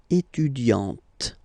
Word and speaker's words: étudiante: Okay, but then for the feminine form, elle est étudiante. Okay, t. Okay, you don't really insist on the e, but you insist quite much on the t.